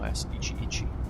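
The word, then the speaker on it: YS-11: But for those who designed the plane with a designation, it was originally pronounced YS11 or YS Ichi.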